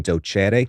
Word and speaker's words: docere: Doctor comes from the Latin docere, or in the ecclesiastical pronunciation, docere.